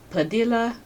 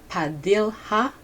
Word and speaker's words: Padilha: During their meeting, Padilla, I think I pronounced his name wrong. Okay. Padilha.